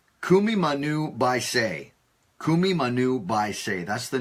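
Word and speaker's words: Kumimanu biceae: So what I did tonight is I went to YouTube to find the correct pronunciation of this bird. And it's Kumimanu baisei.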